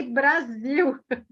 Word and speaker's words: Brasil: How should I pronounce it? Brazil. Brasil. Brazil. Okay. Brasil. Brazil. Brasil. That's a new one. Yes. That's a new Brasil. one. We say Brasil.